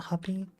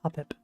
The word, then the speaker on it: Hoppip: It's a Hoppany. I have no idea how to pronounce that. Hoppip? Yeah, Hoppip. Then 1, 2, 3, 4, 5.